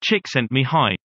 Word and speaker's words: Csikszentmihalyi: Before turning his mind to creativity, psychologist Mihaly Csikszentmihalyi, pronounced Csikszentmihalyi, wrote a celebrated book called Flow.